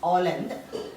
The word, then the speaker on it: Holland: Now 16th century, Holland, H you should not pronounce, Holland.